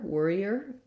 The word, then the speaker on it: warrior: or worry or um the ear warrior um does end up sounding a little bit like ear at the end but also just watch